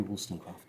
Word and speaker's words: Wollstonecraft: Mary Wollstonecraft.